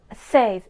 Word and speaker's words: seis: Number six is seis. Seis. Says, S-E-I-S, says.